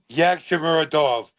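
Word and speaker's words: Yagshimuradov: So I think that's pronounced Yagshamorov. Yagshamorov. I got it. Dovletzan. Yagshamorov. Okay. Dovletzan. Yagshamuradov.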